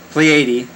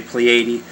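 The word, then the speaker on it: Pléiade: of the 16th century the french pleiad yeah play 80 maybe i should say plea 80. it's spelled p-l-e-i-a-d-e so please 80 like pleiades minus the s a group of seven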